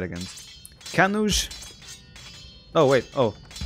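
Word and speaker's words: Kannauj: Kanuj. Oh, wait. Oh. Someone said it rhymes with... Was it judge?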